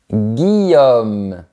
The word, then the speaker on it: Guillaume: On prononce bien le son R. Aurore. Guillaume.